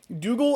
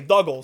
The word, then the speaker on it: Doogal: Dougal is spelt differently to prevent mispronunciation with voice actors. Doog was spelt like Doug in the original version of the movie. Oh, so I Duggal.